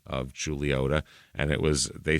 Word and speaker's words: Chuluota: not outside of the Cities now the name pronounced julota it means allegedly Isle of Pines Pine Island